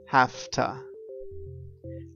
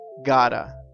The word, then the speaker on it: have to: Now we know that when we use have to, one way to change the pronunciation is saying hafta. I have to work tonight. But an also very common way to say have to is gotta. We change the sound completely and we say gotta.